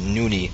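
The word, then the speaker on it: Nony: starcraft joke of how noni pronounced his own name wrong because he pronounced nuni when it was n-o-n-y so there's a little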